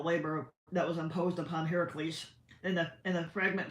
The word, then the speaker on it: Heracles: is mispronounced Hercules but obviously but it's actually pronounced Heracles now as early as as Homer we learned